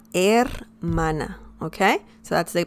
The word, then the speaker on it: hermana: in spanish um in spanish actually the letter h doesn't have any sound so don't worry about any sound because it's mute la hermana la er mana okay so that's the